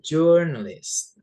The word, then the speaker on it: journalist: The next one is journalist. journalist. Jadi T di belakang jangan dihilangkan ya teman-teman. Journalist gitu.